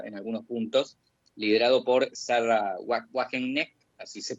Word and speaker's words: Sarah Wagenknecht: se quiere, rancia en algunos puntos, liderado por Sarah Wagenknecht, así se pronuncia, fundó una alianza que literalmente se llama